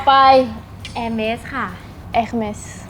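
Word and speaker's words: Hermès: เอส ค่ะ Hermes Hermes ทำไม อัน นี้ ออก เสียง ตัว เอง สุด ท้าย ปกติ นะ ฝรั่งเศส นะ บาง ที ก็ จะ ไม่ ออก ตัว สะกด มึง ก็ จะ กด เป็น ตัว สุด ท้าย ไม่ ออก เสียง แต่ นี้ มี S 60 S ด้วย มัน ออก S เพราะ ว่า มัน เป็น ชื่อ ถ้า เป็น แบบ World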